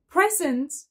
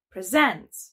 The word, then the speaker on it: present: Are you present or present? When you say present, it means a gift.